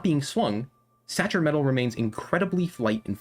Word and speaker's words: sacer: S-A-C-E-R. S-A-C-E-R. But it said sacer, like CH-ish.